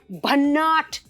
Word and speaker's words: Bhannat: Did I say it right? Bhannat. बन्नाट तो एकदम ठीक बोला आपने.